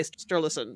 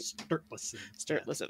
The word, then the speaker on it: Sturluson: So literally, like, where the Law Rock is, where Snorri Sturluson, I can't pronounce his name properly. I say Sturluson, but that's wrong, right? Sturluson.